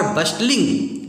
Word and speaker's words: bustling: का एक समूह, वर बस्टलिंग, एबाउट में दौड़ भाग कर रहे थे। बस्टलिंग ये टी साइलेंट इसमें है, बस्टलिंग बोलते हैं, BUSTLING, बस्टलिंग, एबाउट में दौड़ भाग करना या इधर उधर घूमना।